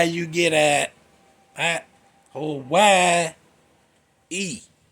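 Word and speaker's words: Hawaiʻi: Hawaii. E Hawai with two Y's. I don't know how you get that. Hawaii E, not Hawaii.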